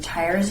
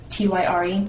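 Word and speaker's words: Týr: Tyr's Day. Tyre. No, Tyr.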